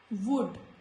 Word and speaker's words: would: In these words, when letter L comes before letter D, it is silent. So, could, not could, could, should, would.